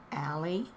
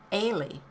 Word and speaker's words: Allie: I was going to say Allie, but in parentheses she's got pronounced like Haley, but without the H. Ailey.